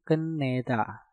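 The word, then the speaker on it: 끝내다: Ket diakhiri dengan tiut, setelah itu diikuti kata yang diawali dengan nieun. Nah, maka tiutnya kalian rubah menjadi nieun. Dan cara pengucapan untuk kata ini menjadi keneda.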